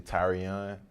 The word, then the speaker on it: Tyrion: called tyrion um it's actually tyrion that's how you pronounce it that's how you it's that's how you pronounce it tyrion like tyrion you know i mean